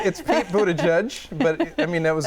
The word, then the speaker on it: Buttigieg: Pete Buttigieg. Close. Close. It's Pete Buttigieg, but I mean, that was a good tough try.